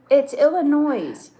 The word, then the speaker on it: Illinois: thing in this world the S is silent in.